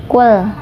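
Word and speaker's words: قُلْ: Qul dibacanya jelas, gak boleh mantul, gak boleh ditahan ya. Qul seperti itu.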